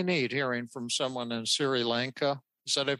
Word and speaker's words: Sri Lanka: And that's really neat hearing from someone in Sri Lanka. Is that, I pronounce that right? No, Sri Lanka.